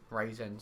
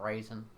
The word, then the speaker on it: Ryzen: So I want to use my modern Ryzen 7. And people also probably mad that they say Ryzen and not Ryzen.